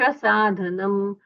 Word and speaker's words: साधूनां: साधुनाम वंदनेन च, धू का उच्चारण दीर्घ होना चाहिए।